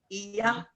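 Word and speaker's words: Oia: We watched the sunset over Ia.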